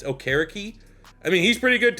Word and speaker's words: Okereke: Remember, that's how you pronounce it right. They came out, it's like, it's not Okereke. It's not what Pat McAfee announced during the draft. It's Okereke.